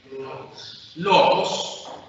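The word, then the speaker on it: λόγος: Logos, que traducimos eventualmente como palabra. ¿Cuántas? Tiene 2 sílabas. ¿Dónde está el acento? En la penúltima.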